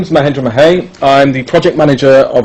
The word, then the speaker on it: Mahendra Mahey: And Mahendra Mahey, I pronounced yep, that that's right, correct.